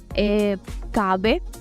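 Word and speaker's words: kahve: esta letra, es que la H sí tiene un sonido en turco. Si se pronuncia, por ejemplo, como kabe, allí se escucha, tiene un poco de sonido esta letra. Kabe se escribe K-A-H-B pequeña y la E.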